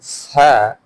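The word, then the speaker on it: ث: This letter Sa starts from S, hence whistle sound should not come. While reading S, whistle sound comes, but reading Sa, Sa, Sa, Sa, Whistle sound should not come.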